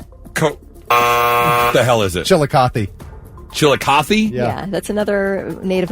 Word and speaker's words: Chillicothe: Chili cotti. Chili. What the hell is it? Chillicothe.